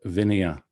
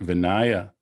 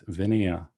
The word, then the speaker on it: Vinaya: notice the pronunciation of vineya i often hear vinaya but if you see here there's no long a it's vineya it's related to the